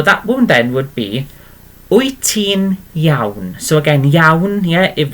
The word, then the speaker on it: wyt ti'n iawn: Wyt ti'n iawn? Okay, and it's literally pronounced like this.